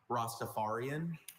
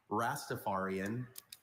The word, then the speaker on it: Rastafarian: I have a few pronunciations. Rostafarian. Rastafarian. Rostapharian.